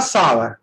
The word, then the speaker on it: sour: The apples are सावर, तो इसका जो प्रोनाउंसिएशन होता है वो सावर होता है, नॉट सोर होता है।